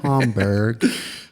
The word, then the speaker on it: Schaumburg: I've been, Schaumburg.